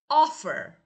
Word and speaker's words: offer: Offer. Offer is a verb but the first syllable is stress.